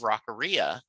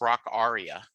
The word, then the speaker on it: Rockaria: Rockaria, and he said, "Do you know it's pronounced rock aria?" And I said, "Get the F out of here." He said, "Yes." He said, "All my life I've called it Rockaria as well."